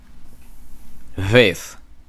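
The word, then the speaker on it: ב: So this will be pronounced Veth. Or, people pronounce it now, Vet. Veth. Now, how do you produce this sound?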